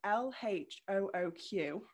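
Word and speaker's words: L.H.O.O.Q.: by um marcel duchamp which is called l-h-o-o-q which um the initials pronounced by native french speakers would translate to she has a hot ass so that is pretty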